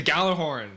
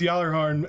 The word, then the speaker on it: Gjallarhorn: It's pronounced Gjallarhorn? Yeah. Yep. I call it the Gjallarhorn. I don't call it. Alright, Achievement Hunter lied to me. Because there's a J in there as well, which makes it.